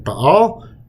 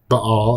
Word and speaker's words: Baal: has another name that shows up in Canaan Bal or B Bal however you want to pronounce it it's Baal that's how it should be uh his best